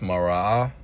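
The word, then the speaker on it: מראה: strong 7200 which is pronounced marah and broken down in the Hebrew with the characters ma, rah, and ah.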